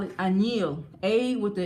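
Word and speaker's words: añil: The Latinos, if you go to Botanica, they call it anil. A with the N, with the little slanted N on top, I-L, A-N-I-L, anil.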